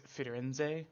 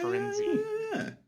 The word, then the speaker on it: Firenze: It is Firenze. Like you pronounce the e like an eh, not a inze. Oh, okay. Firenze.